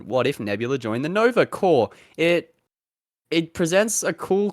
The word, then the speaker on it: Nova Corps: detective chop where she's recruited to join the Nova corpse uh yeah what are your thoughts and takes